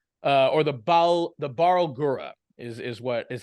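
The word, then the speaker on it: Barlgura: that you might encounter would be like the Bal guro uh or the Bal the barura is is what is how you pronounce it the barura uh it's essentially like a big giant kind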